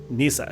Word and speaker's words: Kneesaa: and lucasfilmer said in fact that is indeed Nisa so she goes all the way back to cartoons and if you doubt the pronunciation of the name go back and watch